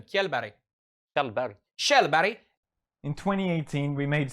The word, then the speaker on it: Kjellberg: How do you pronounce his last name? Kjellberg.